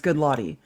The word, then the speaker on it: Goodlotty: Hey, it's Bob Goodlotty. Nope. Good latte. Okay, well, I'm just telling you. If anyone wants to know how to pronounce his name, it's Goodlotty.